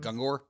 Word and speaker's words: Gungor: I think How do you pronounce his last name? Gungor.